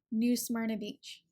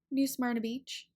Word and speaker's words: New Smyrna Beach: is a little tricky some people aren't quite sure what to do with that Y and the R so it's pronounced ER Smyrna New Smyrna Beach where do you want